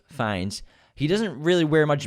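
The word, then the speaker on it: Fiennes: tried to call us out on it it's pronounced rafe fines he doesn't really wear much makeup when he's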